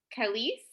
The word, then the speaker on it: Khalees: And I see in the chat as well, is it Khalees? Is that how you pronounce the name? If I'm pronouncing it correctly or pronouncing it incorrectly? Oh, that is correct.